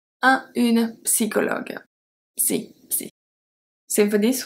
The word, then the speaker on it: psychologue: We have une psychologue, psychologue. We don't say psychologist, we say psy. So we have the P at the beginning that we pronounce. Une psychologue.